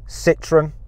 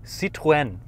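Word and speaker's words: Citroën: you say it okay how do you say Citron citwen okay the French goes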